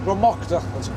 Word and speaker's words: Dromocta: Here we are here, Dromocta Pass. There it is. Dromocta, that's how it's pronounced.